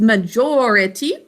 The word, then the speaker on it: majority: majority major it e so we flip the um syllables that have a thinking cap because we're putting the emphasis on this syllable majority and in this word we put emphasis on the first syllable major we have different stressed syllables